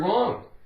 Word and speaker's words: wrong: Take away the W, ong. O-N-G makes the ong sound. Like ing is ing. So, the word wrong.